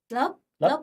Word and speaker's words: Lớp: How do you say class? Lớp. Look at that, I said it right.